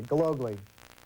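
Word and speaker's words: Gillogly: Now, how do you pronounce your name, Kevin? We've butchered it so far. That's okay. Gilogli. Gilogli. Right.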